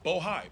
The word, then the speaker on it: Bohai: I want to make sure I pronounce it right. Bohai, B-O-H-A-I.